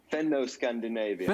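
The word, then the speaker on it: Fenno-Scandinavian: Fendo-Scandinavian.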